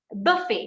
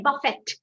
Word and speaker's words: buffet: t you get it we are not pronouncing the t we say buffet we don't say buffett book you get it